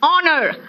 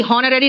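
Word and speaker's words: honorary: है वो साइलेंट है ऑनर आर ऑनेस्ट रिदम देखो यहां पे एच साइलेंट है रिदम है ऑनरी हनरी नहीं है ये ऑनरी होता है विदाउट सैलरी एग्जॉस्ट एंड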